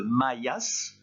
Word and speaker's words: Mayas: Ensuite, troisième ligne à partir de la fin, j'ai mis en rouge le S de Mayas, parce qu'il ne faut pas oublier de le prononcer.